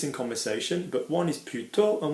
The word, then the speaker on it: plutôt: one is plutôt and one is plutôt. Okay, so there's kind of a pronunciation difference. Plutôt, two different words, and plutôt, one word, okay? Plutôt, we kind of stress the plus a little bit more on the instead version.